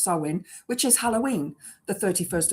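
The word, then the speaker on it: Samhain: Um so yeah um we start our new year with sewin sam hayne as it's spelled but it's pronounced sewin which is Halloween the 31st of October that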